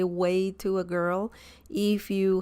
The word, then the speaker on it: güey: mainly used um so it's a very easy pronunciation Che the next one is Tio Tio okay and way way so that's the third one here way okay we Che Tio way okay and all